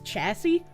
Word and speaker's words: chassis: Can I repronounce chassis for you? Is that not how it's pronounced? I don't know about cars, brother. It's such a shame. A chassis should have been on the IQ test yesterday. Oh, It's chassis. Why is it pronounced chassis?